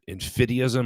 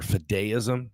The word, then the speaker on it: fideism: have no interest in fideism or fideism, depending on how you pronounce it, of some sort of reclamation project of Aquinas and some Middle Ages, medieval understanding of faith and reason.